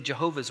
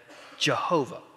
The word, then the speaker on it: Jehovah: Now, FYI, a quick aside while I'm on the technical aspects of this, there are certain people, specifically Jehovah's Witness, who insist that the name must be pronounced Jehovah.